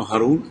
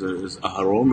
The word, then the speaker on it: Harun: Not like a Jew, not Hebrewish. No, Harun. Harun. Yeah, Harun. My name is Aharon or Harun. Harun. So yeah, it's the Aaron Aaron in the Bible.